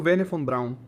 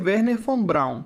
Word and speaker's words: Wernher von Braun: Agora, muitas pessoas pronunciam como Verner von Brown. Provavelmente vou dizer Werner von Brown, porque sou americano e